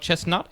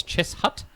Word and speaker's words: Cheshunt: It's not Chestnut, it's Cheshunt.